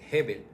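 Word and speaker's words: הבל: no es el nombre de uno de los hijos de Adán y No, Abel es Hebel.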